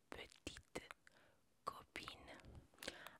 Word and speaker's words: petite copine: Novio se dice petit copain y novia se dice petite copine. Ahora, te voy a mostrar cómo se escribe para que tú sepas.